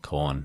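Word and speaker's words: Khorne: actual like the grain it's not spell corn it's like the opposite of meat it's spelled k h o r n e k h o i oh okay fine corn the god of murder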